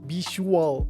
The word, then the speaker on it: visual: experience visual visual experience so it almost sounds like a sh sound when you're saying it like visual but it's visual experience visual visual it almost sounds like a z when Americans say it like visual visual